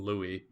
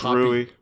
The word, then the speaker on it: Louis: And it's like, it couldn't be more clear that it's supposed to be the English name Louis. And it's Rui. Yeah, they're copying like the Japanese pronunciation.